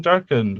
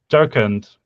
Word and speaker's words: Jharkhand: And it's an official language in Jharkhand, which I might be visiting Where? sometime. Jharkhand.